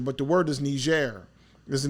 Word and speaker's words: Niger: of people pronounce it Niger but the word is ner is the name of the the country which is a French word so is Algeria right